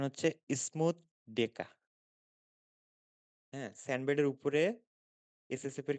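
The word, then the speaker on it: Schmutzdecke: এটার উচ্চারণ হচ্ছে স্মুথ ডেকা।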